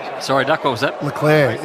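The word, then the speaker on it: Leclerc: duck what was that leclair is leading the grand prix that's how you pronounce it like eclair the clan that's not the clerk no so mcdonald's remote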